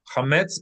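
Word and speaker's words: חמץ: In biblical times, they were not saying chametz. How do we read it in biblical Hebrew? Anybody want to give it a shot? Think about which syllable to accent. Chametz. Anybody want to read? No. Note the dot under it lets you know that it should not be friction in your mouth. Cha is not guttural.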